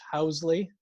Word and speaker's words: Huseley: And again, I mispronounced his name. It's Huseley.